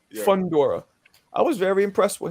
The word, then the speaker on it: Fundora: Fedora, how do you pronounce his last name? Fundora. Yeah. Fundora.